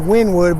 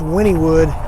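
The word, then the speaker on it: Wynnewood: Sign looks like it says Winwood, but I think it's pronounced Winniewood, if I remember correctly.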